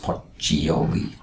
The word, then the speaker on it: Pacioli: Luca Pacioli, 1445 to 1517, pronounced Poccioli, an Italian mathematician and Franciscan monk, published the Summa di Arithmetica Geometrica Proportioni e Proporzionalità in 1494.